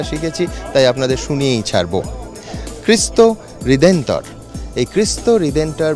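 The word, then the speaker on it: Cristo Redentor: মূর্তি দেখতে একবার আসছেন এরা পর্তুগিজ ভাষায় একে বলেন অনেক কষ্ট করে উচ্চারণটা শিখেছি তাই আপনাদের শুনিয়েই ছাড়বো খ্রিস্ট হৃদেন্তর এই খ্রিস্ট রিডেন্টার বা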